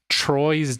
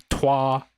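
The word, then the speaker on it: Troyes: next we played uh Troy's dice or if you want to be uh real about how you say it is twah Dice um I had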